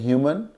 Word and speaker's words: humane: रहे हैं, एक है ह्यूमन और एक दूसरा वर्ड है, उसमें इसी ह्यूमन के बाद में ई लगा दिया गया। ऐसा करने से इसका प्रोनाउंसिएशन भी बदल गया है। This would be called ह्यूमेन।